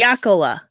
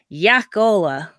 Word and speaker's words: Jakola: Well, if there is a pronunciation, you want to know the Finnish way to pronounce it Yes. is Jakola. Jacola. I'm writing that down. Yeah, but there's 2 A's in it.